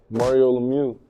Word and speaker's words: Mario Lemieux: Yeah, Mario Lemieux.